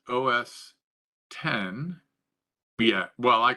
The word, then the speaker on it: OS X: humble os x so os x pronounced os 10 yeah well i call it os x most people i know